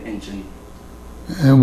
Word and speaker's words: Incheon: Now, you said you arrived in Incheon, Korea first. In where? How do you pronounce that? Incheon?